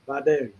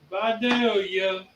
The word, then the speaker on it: Vidalia: And that is the proper pronunciation, Vidalia. Vidalia.